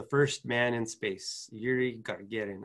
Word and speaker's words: Gagarin: I don't know if I'm saying that correctly, Gagarin. I've been corrected by that by some of my Russian students. You say it like, do you know how to say it? I just say Gagarin, Yuri Gagarin. Yeah. And I'm sure I'm saying it like an American, not with the proper pronunciation, Gagarin, but that's Gagarin.